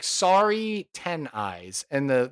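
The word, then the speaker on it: Saree: And the the first name S A R E E. So, I would pronounce that Sorry, or is it Si? You know, I've known people named Sari with that spelling.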